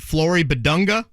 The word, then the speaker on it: Flory Bidunga: Give me the pronunciation of the Kokomo kid, Flory Bidunga.